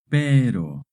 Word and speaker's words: pero: Remember when the R is between two vowels, it makes a short tap R sound. Pero.